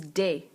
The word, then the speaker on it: des: And then the plural of both is des. Des. Now we don't have a plural indefinite article in English. In French we do. It means some. Can mean some as well. So un garçon, a boy. Des garçons, some boys, or just boys.